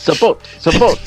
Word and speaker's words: Sabote: It's Sabote, not Sabat, Sabote. This is Italian now.